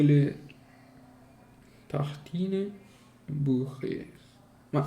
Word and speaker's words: tartines: Tartine, neanche si pronuncia la E, neanche la E si pronuncia.